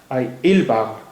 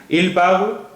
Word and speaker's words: parlent: استعمال کیا جاتا ہے, لیکن یہاں پر ENT جو ہے اس کا تلفظ نہیں ہوتا ہے. یہ ILS il parle یعنی جو اس میں